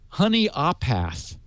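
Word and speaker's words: Honea Path: H and he tell he helped me pronounce where he lives it's honey aath and I believe me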